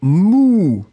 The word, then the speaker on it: mou: Le deuxième mot, eh bien, c'est mou, et le son c'est vraiment ou, ou, ou, ou.